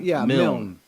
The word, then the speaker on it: Milne: make sure I'm saying how do you say your last name mil yeah Robert lindsy mil I was definitely but